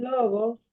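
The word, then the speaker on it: λόγος: Esas cinco letras aquí Cómo se lee normal logos logos Exacto pero realmente logos es esta palabra lo único que todavía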